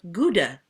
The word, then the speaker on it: Gouda: Howda or Gouda. It's Howda, correctly pronounced.